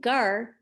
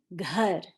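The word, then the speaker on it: घर: i pronounce this word i'm not saying gar i'm saying god do you hear me pronouncing that h after the g god again i'm not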